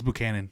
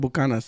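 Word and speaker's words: Buchanan's: it and then yeah how do you say that in English Buchanan it's Buchanan it's Buchanan why do Mexicans call it bukanas there's no Mexican dog there's no s in that bottle hey there's no there's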